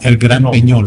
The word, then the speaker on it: El Gran Peñol: El Gran Peñol. Round. Probably that's You're it. supposed to have a tail on top of it.